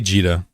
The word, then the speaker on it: Jita: Most people say Jita. I say Jitta and it drives people nuts.